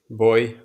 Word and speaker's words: buoy: How do how do you say how do you say buoy boy? I know that.